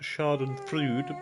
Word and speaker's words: Schadenfreude: It's pronounced Schadenfreude, but we like the frubes.